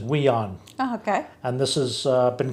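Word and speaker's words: WIONN: immigrants our new neighbors w-i-o-n-n and i think they pronounce it we on okay and this has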